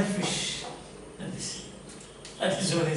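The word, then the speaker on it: ghoti: And what you might have done is you said goti. Then the teacher will say it is not goti, it is fish.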